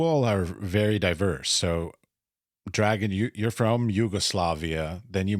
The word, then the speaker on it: Dragan: And my name is Dragan.